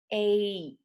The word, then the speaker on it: eight: E-I-G-H makes a long A sound. So those four letters come together and they sound like long A, like in the word eight.